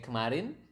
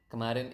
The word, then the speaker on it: kemarin: Kemarin, do you still remember how do you say kemarin? Kemarin is yesterday, right?